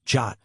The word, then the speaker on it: JWT: AJWT short for JSON web token and pronounced jot works on exactly the same principle.